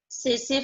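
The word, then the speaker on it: tsetse: House fly, butterfly, सेसे फ्लाई, T silent है, सेसे फ्लाई and silver fish, they belongs to insecta.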